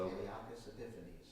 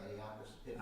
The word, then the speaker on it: Antiochus Epiphanes: So Antiochus Epiphanes. What's that? Antiochus Epiphanes. I was putting the wrong emphasis on the wrong syllables, wasn't I? I think that is correct.